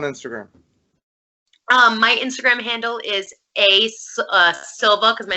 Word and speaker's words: Silva: My Instagram handle is Silva, because my name is Silva.